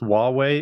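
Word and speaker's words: Huawei: wrong but that Chinese company like ywei it's pronounced wuwei it's it's spelled with an H so it's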